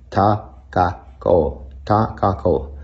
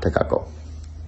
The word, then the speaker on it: Takako: It's more like Takako, not Takako. So there's a slight difference.